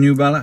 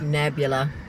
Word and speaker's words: Nebula: So, how do you pronounce it again? Nubella. Nebula.